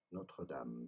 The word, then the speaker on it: Notre Dame: Really, the difficult part to pronounce here is Notre Dame. That's the French pronunciation here.